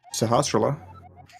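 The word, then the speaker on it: Sahasrahla: what's this old man's name how do you pronounce it sahasrara okay cool we're on the same page it's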